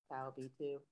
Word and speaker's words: PALB2: PALB2?